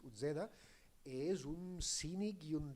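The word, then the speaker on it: Uzeda: de la família Utzeda, perquè nosaltres aquí pronunciem equivocadament aquesta Z a la castellana, en canvi els italians la pronuncien com a ells els hi pertoca, que és Utzeda, és un cínic i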